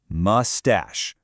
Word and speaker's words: mustache: You see that ache at the end and you probably think of headache so it should sound like ache. But nope, in this word it sounds like ash, mustache.